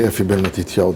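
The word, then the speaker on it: Effie Ben Matityau: You say Efi Ben Matitiao.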